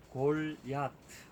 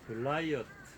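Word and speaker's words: גָּלְיָת: 이 골리앗이란 이름의 본래 히브리적인 발음으로 이제 부르자면 골야트 이렇게 불리는 이름입니다. 골야트. 이것이 영어로 건너가서 글라이어트 이렇게 기록되고 발음이 되고 한글로 와서는 골리앗 이렇게 발음이 돼서 원어하고는 좀 거리가 좀 있는 이름이죠.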